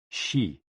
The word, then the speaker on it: Xi: Hoo, pronounced like hu, which is associated with the spleen, and Xi, pronounced like shi, which connects the whole body.